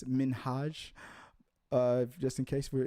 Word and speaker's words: Minhaj: hassan minhaj people don't people always mispronounce his name it's minhaj uh just in case